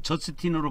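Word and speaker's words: Justin: 유스티누스는 저스틴이라고 그랬죠. 영어로는 저스틴으로 발음합니다. 저스틴 있잖아요.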